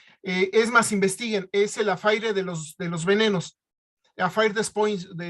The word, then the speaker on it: affaire: más, investiguen, es el affaire de los venenos, affaire de poisons, usted me lo sabrá mencionar mejor. Y fue que encontraron... Escribe affaire, se pronuncia affair, negocio.